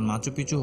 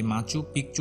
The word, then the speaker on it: Machu Picchu: এই শহরের স্প্যানিশ উচ্চারণ মাচু পিচু হলেও অনেকে একে মাচু পিকচু উচ্চারণ করে, যার অর্থ হলো পুরনো চূড়া।